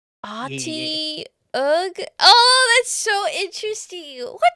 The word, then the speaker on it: Otyugh: It's called I an see. Otyugh. Can you spell that out for me? Otyugh. Y G Yeah. Ati Ugh.